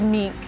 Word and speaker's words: mink: What is meek? Meek condition. How do you spell that?